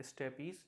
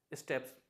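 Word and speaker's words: steppes: इसको बहुत से लोग प्रोनाउंस करते हैं स्टेपीज, जो कि गलत है, इसे करेक्टली प्रोनाउंस किया जाता है स्टेप्स।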